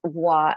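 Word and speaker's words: voir dire: due respect your honor it's pronounced voir as in Reservoir and dear as in dear like as in it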